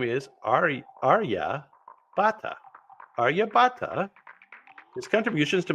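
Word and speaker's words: Aryabhata: to and that's because his name is AR Arya Bata Arya Bata his contributions to mathematics and astronomy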